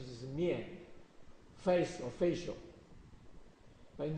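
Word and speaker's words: 面: Pronunciation is mian, face or facial.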